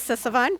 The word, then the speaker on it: Sisavanh: you good morning good morning my name is sisavon that's spelled s as in Sam I is an